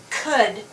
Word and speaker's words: could: Could.